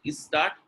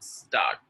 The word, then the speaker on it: start: A lot of people say is start is school. So especially people who are from North India, is school. So you need to focus on start.